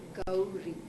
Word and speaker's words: Gowri: But my actual name is Gowri. Gowri. Gowri. So am I saying it right then? Gowri. You have to put the ow in the middle.